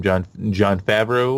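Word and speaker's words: Jon Favreau: John Favreau, yep. I believe is how you pronounce it.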